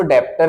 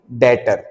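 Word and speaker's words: debtor: लिखते समय हम इसको डेप्टर लिख रहे हैं। लेकिन बी क्या होता है? साइलेंट होता है। बी क्या होता है बच्चों? इसमें साइलेंट होता है। तो तब तक के लिए हम इसको क्या बोलेंगे? डेटर। क्या बोला जाएगा? डेटर। बी साइलेंट होता है। इसीलिए हम इसको डेटर बोल रहे हैं।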